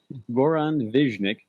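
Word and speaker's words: Goran Višnjić: And Goran Viznik, and I've been told that's the proper pronunciation of it. Goran Viznik.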